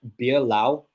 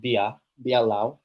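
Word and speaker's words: Beerlao: Um, but if anyone has ever tried beer Lao, Le Oceanian beer, Lao beer. They don't have it here in Spain. I've never tried, but it's my favorite beer. Beer Lao beer. Well, it's pronounced Bia Biao.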